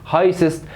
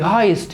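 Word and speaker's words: heißt: قال لك لتخفيف النطق في اللغه الالمانيه وكل ما يكتب ينطق ما بقولش هايسست. خدناها واحنا شغالين في هايست دو، ينفع اقول له في هايسست دو؟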